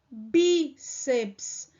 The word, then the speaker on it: bíceps: mesma coisa aqui ó bíceps palavra paroxítona terminada em ps recebe o acento ô professora isso aqui não é uma palavra proparoxítona não bíceps não lembra que na aula anterior o que foi que eu falei que para se haver uma sílaba precisa ter vogal nesse caso aqui bíceps nós não temos vogal aqui e então ó nesse PS então isso aqui é uma sílaba só tornando-se uma o quê